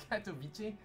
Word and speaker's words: Katowice: versus Fnatic game not too long ago in Katowice, I don't know how to pronounce that. Katowice?